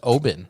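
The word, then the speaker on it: Oban: little bay and you know what it's actually pronounced oben i found that out the other day when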